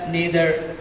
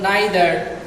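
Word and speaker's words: neither: তোমাদের বোঝার জন্য বলি, এই নাইদার শব্দটা নি দ্বারা উচ্চারণ হতে পারে, আইদার শব্দটা ই দ্বারা উচ্চারণ হতে পারে। আমেরিকানটা নেদার, ইদার, আর ব্রিটিশ উচ্চারণ হলো নাইদার, আইদার, 2 রকম উচ্চারণ।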